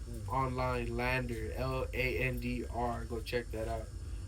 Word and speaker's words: LANDR: I mastered it through Lander, right? Which is funny because Lander, right, is spelled Landr.